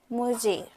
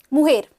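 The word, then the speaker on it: mujer: बाकी प्रोनाउंस करना आपके लिए आसान होगा. अब्यूलो, अब्यूला, प्राइमो, प्राइमा, सोब्रिनो, सोब्रीना, मारिदो, मुजेर, मुहेर, मुहेर.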